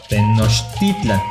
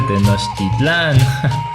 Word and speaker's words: Tenochtitlan: también cambio el acento esto se debe a que en el agua todas las palabras son graves entonces recopilando tenemos méxico